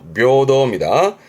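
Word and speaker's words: 平等: 요거 조심하실 거 뜻은 평등입니다. 발음은 묘더. 묘도입니다. 전부 다 해로 가다가 평등만큼은 묘도니까.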